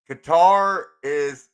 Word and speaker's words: Qatari: Qatar is what retarded Americans call it. Just being real. So then do you call the people guttery? Qatari. Qatari. Qatari. Almost sounds like Qatari. cutlery. Cutlery. A little bit, Cutlery.